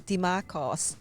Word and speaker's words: Dimarchos: for joining us this afternoon we've got DeMarcos joining us have I pronounced your name correctly there perfect oh